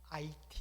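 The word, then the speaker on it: 아이티: 총 단미 에 위치한 it 입니다 h 로 시작하지만 여기는 부로 건 이기 때문에 it 라고 그렇게 발음을 하죠 이 코바 아래쪽에 있는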